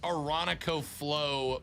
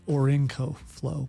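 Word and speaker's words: Orinoco Flow: It was Aronico Flow by Enya, I think. It's Orinco flow. But, that was a Florida pronunciation, I'm sure.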